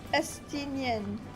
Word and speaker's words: Estinian: Estinian. That's how it's pronounced.